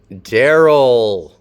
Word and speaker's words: Daryl: Daryl, which can be spelled a whole bunch of different ways, beginning with a D and beginning with a stressed syllable.